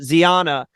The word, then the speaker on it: Zyanya: Zyanya. Yeah, Z, basically. It rhymes with lasagna, but Zyanya, I'm loving her.